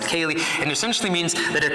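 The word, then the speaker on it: ceilidh: it a Kaylee and it's spelled in interestingly said the Celtic spelling c-e-i-l-i-d-h pronounced Kaylee and essentially means that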